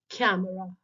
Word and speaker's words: camera: consider the word camera it has three syllables which are office the first syllable is stressed while the other two syllables are unstressed let's tell the word again camera so there you can